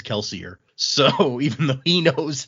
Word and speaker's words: Kelsier: like Frenchish and like Kelsier's name was actually like Kelseier or whatever.